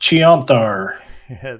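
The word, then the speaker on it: Chionthar: or cayenne cayenne thar i don't see both of the h's taking effect only one of them um it is pronounced chianthar they uh they um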